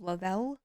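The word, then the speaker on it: Le-Vel: I think Thrive is the brand of things that they sell, but the company itself is called Lavell. So spelled like Levelvel but said differently.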